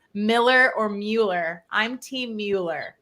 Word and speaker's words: Mueller: I had a builder say that it's pronounced Miller. I swear I've heard that before, but everyone says Mueller.